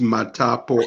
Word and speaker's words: Matapo: It's Matapo, M-A-T-A-P-O.